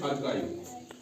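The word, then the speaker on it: archive: silent रहेगा ठीक है जैसे अरकाई ए आर सी एच आई बी अरखा कुछ पढ़ते हैं हरखाय अरखा ह ह एच की आवाज ह की निकलती है कि नहीं ह नहीं निकालना है अरका अरकाई एच को साइलेंट रहने देना है केस केस ठीक है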